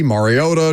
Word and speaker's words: Mariota: Mar, not Mayor.